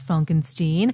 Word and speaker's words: Frankenstein: Mine are Young Frankenstein, pronounced Frankenstein, High Anxiety, Blazing Saddles, Spaceballs, History of the World.